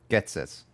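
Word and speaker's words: Ghetsis: My name is Getis. Is it Getis? Hatis? How do you say his name? Getsis.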